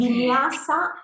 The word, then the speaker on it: Vinyasa: No sé si lo he pronunciado bien, Carla, si usted Vinyasa, corrige, Vinyasa, sí, ¿no?